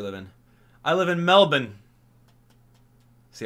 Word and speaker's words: Melbourne: of Australia you live in I live in Melbourne see how I pronounce that I know I know I know